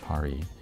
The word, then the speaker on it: Pari: Pari Studio, pronounced Pari.